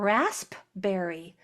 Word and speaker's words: raspberry: I saw this on a street sign and I said, "Why are they spelling out raspberry?" Raspberry. I didn't know that raspberry had a P in it.